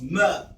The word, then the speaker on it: mr: No vowels were used during ancient times, so it was spelled MR, mer or more.